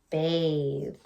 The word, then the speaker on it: bathe: But that A is saying its name. Why? Bathe. We have a silent E.